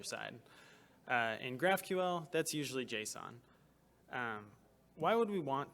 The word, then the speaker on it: JSON: it I also learned it's officially pronounced Json as of the 2017 standard but I can't break the habit of calling it Json so I'm not going